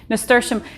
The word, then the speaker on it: nasturtium: It took me a long time to figure out how to pronounce this correctly. I even had to write it down. Nasturtium.